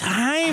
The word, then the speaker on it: Jaime: It's Jaime. It's Jaime. How do you say Jaime? Jaime. Jaime. No, Jaime. No, you've got to roll your R's.